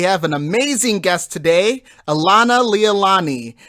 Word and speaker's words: Alanaleilani: How is it actually pronounced? You got the first part right, Alanaleilani.